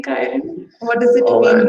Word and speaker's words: Kieren: But beautiful name, Kieren, first of all. And I'm saying Kieren again and again so that everyone pronounces it correctly.